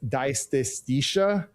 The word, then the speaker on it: dysesthesia: It's dysesthesia, which is, I told you I was going to butcher it. It's almost like anesthesia, but with the DY in the front of it.